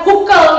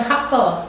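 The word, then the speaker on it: Hückel: Berdasarkan aturan Huckel itu, ingat ya Huckel bukan Haeckel. Meski saya nggak tahu bacanya itu U yang ada titik 2 di atas itu pi itu. Ui. Ui, Huckel. Ui. Huckel. Huckel. Oh, Huckel. Ini kata sepupu saya dari Jerman.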